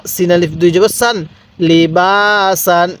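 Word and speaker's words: لِبَاسًا: আলিফ জবর বা সিন আলিফ দুই জবর সান লিবাসান লি বাসান এরকম ভাবে শিখবো এবার আমি এই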